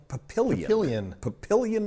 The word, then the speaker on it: Papillion: You say Papillon? Papillion, Nebraska, right? We had to look it up, so if we don't have the pronunciation right, then blame somebody on Wikipedia.